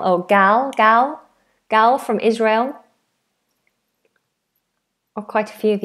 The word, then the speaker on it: Israel: Israel. Like a handrail. Rail or a railway. Rail. Israel but with a zed sound.